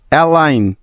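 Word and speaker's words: align: foreign নম জি এন ও এম ই নম এলাইন এ এল আই জি এন এলাইন প্রতিটি উদাহরণে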